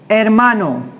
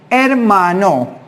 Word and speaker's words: hermano: Hermano, brother. Hermano, brother. Por favor, pon atención. H is silent in Spanish. Hermano, brother.